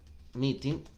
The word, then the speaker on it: meeting: Y miren la letra en la que termina, en el sonido. Meeting. En el sonido de la N. La G es innecesaria.